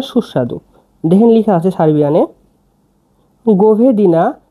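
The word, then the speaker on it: govedina: মাংসকে সারবিনে বলা হয় গভেদিনা গভেদিনা মানে গরুর মাংস গভেদিনা বাক্য ভেঙ্গে দিচ্ছি এটা হচ্ছে জি এটা ও এটা ভি এটা ই ডি আই এন এ কি হল গোভেদিনা গোভেদিনা গোভেদিনা মানে গরুর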